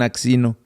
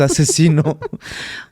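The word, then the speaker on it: Aczino: a c Z entonces hay gente que no sabe cómo se pronuncia y le dicen axino pero es asesino Okay no no podrías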